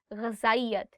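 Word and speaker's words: غذائیت: There are two alphabets in Urdu. One is ze and one is zal. And there is a slight difference in how you say it. For example, in this one, you are saying ghazayat. And the one that is ze, that is very, very sharp, very sharp.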